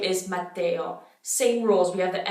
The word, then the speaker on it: Matteo: But instead of Ia, we have Eo, Eo. Mattia, Matteo. So same thing. It becomes kind of like a Y sound in between the E and the O, and they're pronounced pretty strongly.